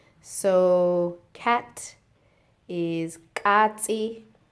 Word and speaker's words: katsi: Anyway, continue with the pronunciation. So cat is katsi, katsi.